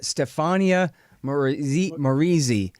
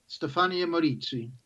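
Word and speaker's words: Stefania Maurizi: important story here uh stefania marie marizzi right something like that help me out say it right for me stefaniya moritzi okay yeah so i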